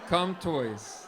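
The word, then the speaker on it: Contois: Wow, how do you say it? Comptoise? Comtoise. It rhymes with tortoise.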